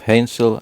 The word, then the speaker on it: Hänsel: least this means that the a is a soft a as in ape not a hard a as in apple I shall Endeavor to